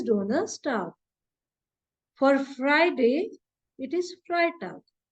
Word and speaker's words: Freitag: And here in Freitag, the combination is reversed. Now it is EI. So it is I. It is pronounced as I.